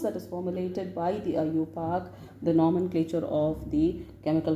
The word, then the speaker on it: IUPAC: How do you pronounce it? IUPAC.